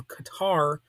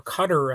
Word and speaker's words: Qatar: $400 million plane from Qatar or Qatar as it's sometimes called you know I've heard it pronounced both ways the proper pronunciation is probably cutter but I tend not